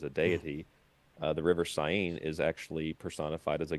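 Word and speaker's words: Seine: the opening ceremony on the river Sin." I believe is how you pronounce it.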